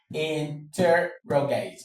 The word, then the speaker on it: interrogate: Interrogate. Interrogate. Interrogate. Interrogate. Um actually, the stress is here. It's on inter, we don't care about that for now.